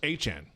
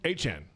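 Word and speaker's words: Etienne: So his last name apparently is pronounced Achan. Say again? Achan.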